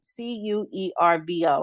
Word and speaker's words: Cuervo: the website so I'm gonna go to um c-u-e-r-v-o I don't know how to pronounce that thank you thank you for giving